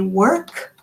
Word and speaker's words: work: So when you say work, make sure you make the k sound at the end.